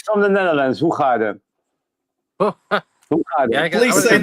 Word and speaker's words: Hoegaarden: Hoegaarden. Hoegaarden. Yeah, I Please would've say said that wrong. again. Hoegaarden. Say it. Hoegaarden. Yeah, there you go. Whoop Garden? I never had guessed that. You can pronounce that.